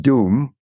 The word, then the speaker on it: Dum: It's actually pronounced doom, which is maybe kind of appropriate.